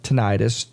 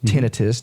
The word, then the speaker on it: tinnitus: Well, I've got a lot of people that come in who have tinnitus, tinnitus, depending on how you want to pronounce it.